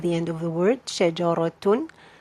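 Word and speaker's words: شجرةٌ: You have 2 dhamma at the end of the word, shajaratun. So you pronounce noon, you say shajaratun.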